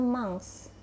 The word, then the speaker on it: mince: kebalikannya mi5 Hai elemen-elemen tulisannya Mince tapi dibacanya manx ya kita mulai ini